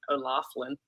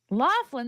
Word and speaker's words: O'Loughlin: my mom and I olafin Laughlin there's no F anywhere I know it's llan